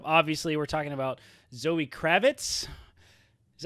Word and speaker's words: Kravitz: next logical step obviously we're talking about zoe kravitz is how you say that kravitz yeah kravitz yeah excellent yeah that's perfect that's